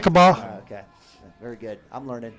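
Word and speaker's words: Lookeba: Do you guys notice how I've said that name of that city about 500 different ways? Hey, you're saying it right. Lokiba.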